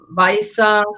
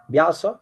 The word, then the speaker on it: Vyasa: Brahmanya Tirtha's servant was Vaisa Tirtha. Vyasa Tirtha. Vyasa, how do you say it? Tirtha? Tirtha. Tirtha? Tirtha. The VY. Vyasa.